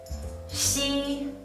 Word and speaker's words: xi: But when you pronounce xi, you don't need to block the air during the whole process.